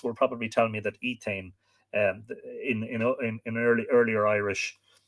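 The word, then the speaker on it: Étaín: probably tell me that Etain, in earlier Irish, the T, if it was between 2 vowels, should be pronounced more like a D, which is why you get the modern name Edain.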